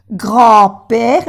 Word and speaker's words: grand-père: Grand-père, no se pronuncia la D.